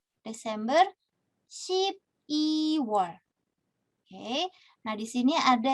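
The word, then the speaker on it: 십이월: Oke, lalu untuk pengucapan gitu ya, pengucapan yang perlu diperhatikan adalah 2 bulan ini. Shibirwol dan Shibiwol. Kenapa? Karena pengucapan ini nih, aduh, sebentar. Pengucapan il dan i kalau tidak jelas nanti keliru.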